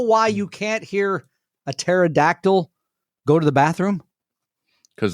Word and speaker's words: pterodactyl: You know why you can't hear a pterodactyl go to the bathroom? Cuz they don't exist? Cuz the P is silent.